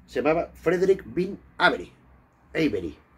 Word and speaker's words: Avery: Avery. Se pronuncia Avery. Pero bueno, yo lo he castellanizado porque es que siempre yo he oído Tex Avery, tal, tal, Tex Avery, sé que es Avery, pero bueno.